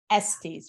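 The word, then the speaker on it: Estés: Yeah, and her name is Clarissa Pinkola Estes, right?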